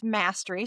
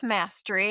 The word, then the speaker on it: Mastre: It's Mastery. So I'm Mastery. It's not quite exactly spelled like mastery, but that's how it's pronounced.